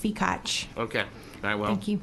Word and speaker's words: Fikach: It's pronounced Fikach.